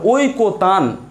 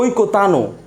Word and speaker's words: ঐকতান: এখন আপনি এটা উচ্চারণ কি ঐকতান নাকি ঐকতানো? না, উচ্চারণ কখনোই ঐকতানো না, আমরা উচ্চারণ করি ঐকতান। তার মানে আপনি এখানে এসে থেমে যাচ্ছেন, হসন্ত দিবেন, প্লিজ মনে রাখবেন, ঐকতান ফিক্সড, হসন্ত দিয়ে দিবেন, শেষ।